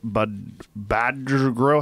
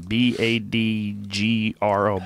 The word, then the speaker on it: Badgro: And then 190 pounds Morris Red Badgro. How do you say that name? B-A-D-G-R-O. Badgro. Badgro. He's growing bad.